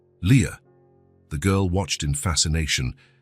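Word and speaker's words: Lia: "This is your name," he explained, pointing at each letter as he pronounced them, L I A. "Leah."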